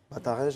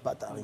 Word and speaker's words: Bataringue: Bataringe en France et en Afrique, c'est Bataringue.